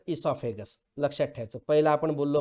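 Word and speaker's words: oesophagus: ओ वरून चालू होते पण ई वरून म्हणायचं इसॉफेगस. लक्षात ठेवायचं. पहिला आपण बोललो माउथ, दुसरं बोललो फायरेक्स किंवा थ्रोट आपण ज्याला म्हणतो, तिसरं इसॉफेगस.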